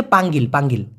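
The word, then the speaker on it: panggil: মূলত হবে হচ্ছে পাঙ্গিল, পাঙ্গিল মানে হচ্ছে ডাকা।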